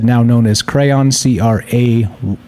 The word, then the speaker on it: Craiyon: said, now known as Crayon, CRAIYON, not spelled like the regular crayon. There's an I in there for some bizarre reason, probably because the word crayon is probably copyrighted or whatever.